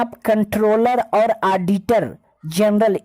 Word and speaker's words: comptroller: आप थोड़ा कंफ्यूज हो रहे होंगे कि COMP का उच्चारण और प्रोनाउंसिएशन कैसे कंट्रोल हो सकता है, कंट का उच्चारण कैसे आप कर रहे हैं। तो इतना समझ लीजिए, because it इज old spelling of कंट्रोलर बट न्यू कंट्रोलर spelling is CONTROLLER कंट्रोलर, but here is COMPTROLLER कंट्रोलर।